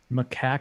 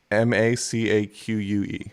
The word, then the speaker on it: macaque: larger monk macaque yes mitch what's up um macaque how do you spell that m-a-c-a-q-u-e macaque okay um okay yeah gak so you